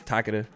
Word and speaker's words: Takeda: Moving on to Takeda, however you want to pronounce it. I think it's Takeda, but okay.